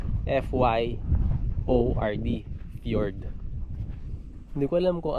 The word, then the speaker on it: fjord: Ang spelling niya FJORD. Yan o. Ang pronunciation niya ay FYORD.